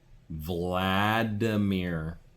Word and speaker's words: Vladimir: Vladimir.